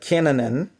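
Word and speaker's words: Cainan: he beg got Canan like Canan that's how to pronounce it Canan can and an so Canan 85 years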